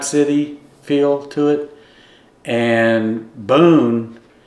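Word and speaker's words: Beaune: Boon like Daniel Boone. Boon. Daniel Boone. You just say it a little different.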